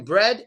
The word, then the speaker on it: bread: But the R here in bread is not in the beginning. So you don't want to protrude on bread. Bread. Bread. It's not bread. No. It's just bread. Bread. No protruding on the R sound in that case, okay?